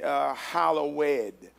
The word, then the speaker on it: hallowed: The pronunciation of the word hallowed is literally hallowed, is what the pronunciation is.